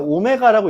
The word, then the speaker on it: 오메가: 우리가 W라고 읽지 않고요. 지금부터는 허근을 오메가라고 읽습니다.